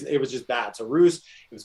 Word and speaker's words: Roozt: And Roost was, by the way, I was bad at branding back then. You should have, like the previous, it was just bad. So Roost, it was called Roots.